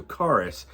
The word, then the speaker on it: Charis: word for Grace is Charis or Taurus whichever you'd like to perform I think it's a hard C so Charis and it's given as